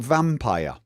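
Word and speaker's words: Vampyr: a little bit like Vampire. The game Vampire. Spelt with a Y, that for some reason everyone insists on saying vampire. Vampire. Because it's got a Y in it.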